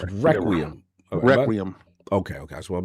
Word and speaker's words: Requiem: It's Requiem.